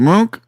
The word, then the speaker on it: Monk: And then Earl uh Monk, how do you say your name? Mk. Is it Monk? Mo. Yeah, you said that right.